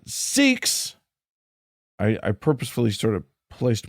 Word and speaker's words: Sikh: The word S-I-K-H is pronounced Sikh, not sick.